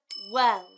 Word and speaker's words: well: They say it like gel, but it's not the g sound. It's the w sound. W. W. W. And at the end, it's the oo sound.